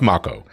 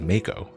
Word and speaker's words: Mako: It's pronounced So, it's pronounced It's pronounced Makco. Um, but for years as a kid and teenager, I used to pronounce it as Mo. Like the shark.